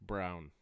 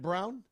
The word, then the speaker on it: Braun: They actually pronounced Brown. Is it Brown?